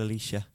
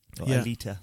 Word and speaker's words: Alita: Battle Angel Alicia, Alita. Sorry. Yeah. I think I've been saying it wrong all these years.